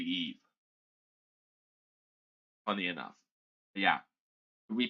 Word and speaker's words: Eve: Eva is how Wally calls Eve, but it's actually Eve.